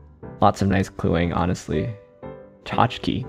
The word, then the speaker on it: tchotchke: Tchotchke. Tchotchke is so long, given that it's only 2 syllables. The first syllable is a... 7 letters long. Chotch.